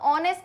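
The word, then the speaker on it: honest: अब ऑनेस्ट की स्पेलिंग में भी पहले एच आता है, लेकिन क्या बताया, साउंड की बात है। तो ऑनेस्ट को देखो कैसे लिखोगे हिंदी में, आ का साउंड आ रहा है तो एन आएगा।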